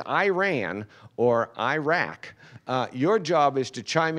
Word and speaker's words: Iraq: me to distraction that these two countries are each just two syllables and most Americans mispronounce both of them so if you would repeat after me ear Ron Iran Iran now a good ear Rock Iraq Iraq okay so your job